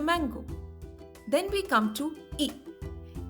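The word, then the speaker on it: ई: we come to e e is pronounced as the letters double e in the word c or tree it's a long vowel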